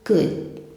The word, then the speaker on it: could: Não fale would, could e não solte o D no final. Fale could.